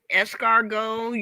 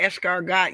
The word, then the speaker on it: escargot: It's like escargot. You don't say escargot, you say escargot. So the T is silent.